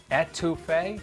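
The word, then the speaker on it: étouffée: Etouffee?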